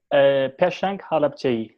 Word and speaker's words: Peshang Halapçı: No, I'm not pronouncing it right. I'm terrible with names. Please give us your name, love. Peshang Halapçı.